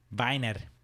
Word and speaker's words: Wiener: I ended up going with their Weiner, spelled with a W. Kind of looks like wiener. Looks exactly like wiener. It's Viner.